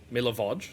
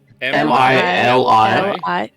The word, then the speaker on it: Milivoj: I'm sorry, how did you spell that guy's name? Milavoj, sorry. Yeah. Milivoj. I got that really Oh, wrong. I say, Okay. can you just do that one more time? Milivoj.